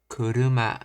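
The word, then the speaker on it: 車: is no dash or such as kuruma a kuruma low high high okay Rises and Pitch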